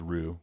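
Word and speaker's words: Roux: us concerts Bob rue how do you say that it's Rous it's ruh ruh yeah to sell 88 thousand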